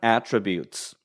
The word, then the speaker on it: attribute: 그리고 대학교를 가는 것이 그러한 attributes. A의 액센트가 있습니다. attribute가 되면 동사예요. 발음이 attribute가 되면은 동사가 됩니다. 어디에 기인하다. 근데 이게 A의 제일 첫 몸에 액센트가 있으면 명사가 되면서 특징, 특질, 성격 이런 의미를 가지고 있습니다.